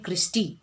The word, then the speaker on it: cristae: और इसमें जो अंगुलीनुमा संरचना पाई जाती है इसको हम लोग कहते हैं क्रिस्टी, क्रिस्टी, ठीक है, CRISTAE, क्रिस्टी, CRISTAE, sorry I नहीं होगा, STAE, मैं एक बार स्पेलिंग और कंफर्म कर दूंगी, क्रिस्टी, ठीक है।